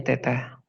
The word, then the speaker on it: theta: Nah ini dibacanya theta ya, bacanya theta.